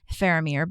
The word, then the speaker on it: Faramir: And I'm I'm pronouncing that phamir, but it's spelled F A R A M I R.